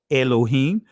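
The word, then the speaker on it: אלוהים: says Alim and um in the Israeli is pronounced Elohim but it says before Alim and the Earth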